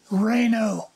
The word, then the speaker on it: Reno: Adams Rhino Reno Reno r-e-n-o right but it's pronounced reyno Reyna okay so is